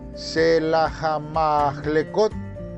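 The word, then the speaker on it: Sela-hammahlekoth: pronunciada aquí, pero en el original se puede pronunciar Shelahamahlekot. Otra vez, Shelahamahlekot, que quiere decir la peña de las separaciones o de las divisiones.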